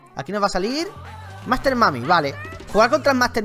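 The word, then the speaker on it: Master Mummy: palomitas que por cierto muchos me decí mami se pronuncia mami no voy a decirle Master mumi porque no se pronuncia así sabes Vamos Master mami que es posiblemente unoo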